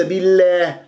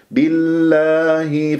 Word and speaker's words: بالله: قبل اسم جلال الله تراقب الله بي بي لا مش بلا بلا بلا وليس باللله لكن بالله فقدي شوفك دائما اكسر